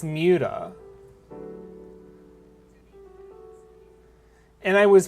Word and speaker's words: MWDA: It wasn't that MDA was taken, it's that I kind of always wanted it to be pronounced Muta.